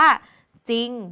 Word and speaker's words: จริง: เสียง แบบ นี้ เนี่ย เมื่อ เรา ไม่ ออก เสียง รอ เรือ คือ เรา ออก เสียง แค่ พยัญชนะ ต้น ตัว หน้า เพียง ตัว เดียว แบบ นี้ เรา จะ